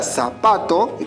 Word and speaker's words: zapato: En la palabra zapato, que la mayor fuerza de voz se encuentra en la penúltima sílaba, no necesitamos colocarle tilde porque termina en una vocal.